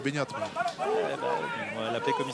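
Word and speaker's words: Beñat: Appelez-le Bernard en français. En basque, c'est Benyat.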